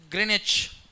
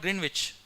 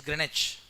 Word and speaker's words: Greenwich: It's pronounced as Greenwich, W silent. It's not Greenwich, it is Greenwich.